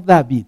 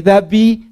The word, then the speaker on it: David: No David, se escribe David, pero no se canta David, porque entonces no rimaría como son las mañanitas, en donde la I es tan decisiva.